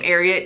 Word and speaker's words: Ariat: the great tip that the name ariat came from the word secretariat so if you remember